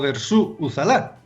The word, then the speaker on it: Dersu Uzala: del cine de 1975 llamada dersu uzala o de su sala que es como se pronuncia aparecer realmente una película